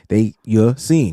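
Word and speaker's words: Ya-Sin: Let me make sure I'm saying that right because Yassin. Yeah. See? Keep telling y'all be saying sin. Nah, it's Rock not Yassin. sin. S-E-E-N. It's not how it's spelled. That's how it's pronounced.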